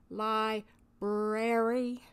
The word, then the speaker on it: library: you notice i said li brary there are two r's in library please learn how to pronounce it correctly it is one of